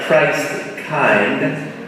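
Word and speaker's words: Christkind: It's spelled like Christ-kind, pronounced Christkin.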